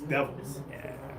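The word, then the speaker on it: D'Evils: the way it's spelled, it's spelled D. Um, and then, um, apostrophe evils, but when you put it all together, it's devils.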